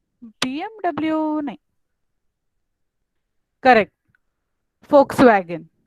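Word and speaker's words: Volkswagen: BMW नहीं, correct, फोक्सवैगन। यस, अब इसमें वी होता है लेकिन उसका प्रोनाउंसिएशन कोई वोक्सवैगन नहीं करता, फोक्सवैगन करता है।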